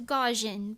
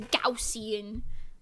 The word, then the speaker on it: Gaussian: that's amazing she also thought it was gajan but learned that it was gausian it's not just me